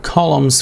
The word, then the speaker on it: column: the correct column or columns for each type you know the n is silent here so we don't say